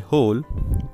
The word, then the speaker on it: hole: एक होता है HOLE होल, दूसरा होता है WHOLE होल। तो दोनों की प्रोनाउंसिएशन बिल्कुल ही सेम है और इनका जो डिफरेंस